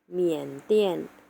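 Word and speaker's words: 缅甸: เซียน เหมือน กัน นะ คะ นั้น คือ ประเทศ เมียน เตี้ยน เมีย น เตี้ย น เมียน เปลี่ยน นัก เรียน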